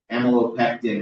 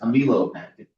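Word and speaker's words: amylopectin: Um and he pronounced amalopectin as amo pectin like for the whole video and it bothered me but I know it's like he's from the south.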